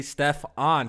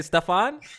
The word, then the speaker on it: Stefan: a I got a message from Stefan is actually Steph on so I said it right I said it right the first time but didn't I say stuff on I said stuff yeah